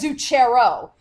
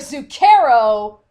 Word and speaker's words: Zucchero: H you know both Ryan Knight we've always pronounced it like you know Chuck so that's where you know you get like Mario's zucchero or Leon like uh Leon a bocce Oh